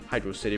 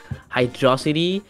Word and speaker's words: Hydrocity: all arguing and it's weird but it is hydrocity because as you said it's a place city and hydrocity is not a word the only argument i've seen is that hydrosity uh like rhymes with velocity but that's it